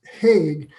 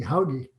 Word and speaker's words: Hauge: My name is Hauge, but if you are a good Norwegian, it'd be Hauge. And somewhere along, an ancestor decided that didn't sound American enough, so they made it impossible for people to pronounce or spell.